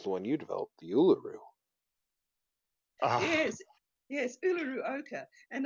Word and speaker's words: Uluru: to to pronounce it but it's pronounced Uluru was I close I